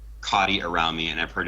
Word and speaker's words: Kati: yeah because before so so Damon said Katie or not Damon excuse me Lucas said Katie Damon says cotti I'm I'm gonna just assume it changes with every designer that will get a different pronunciation well you know it's based off of a real person that I made I I named the card it's cot Lucas however will call